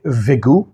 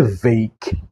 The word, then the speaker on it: vague: কিন্তু স্টুডেন্টরা অনেকেই এটাকে উচ্চারণ করে ভেগু, উইচ ইজ ভেরি রিডিকুলাস। অনেকে বলে ভোগ, অনেকে বলে ভগ। আসলে সঠিক উচ্চারণটি হবে হচ্ছে ভেইক।